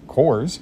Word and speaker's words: Kors: decors and we have Coors it rhymes with decors Michael Kors really nice